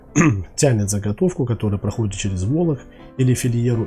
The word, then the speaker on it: волок: сужающаяся отверстие в инструменте волоки или фильер как его называют да есть волок именно на о увидите ударение смотрите весь процесс заключается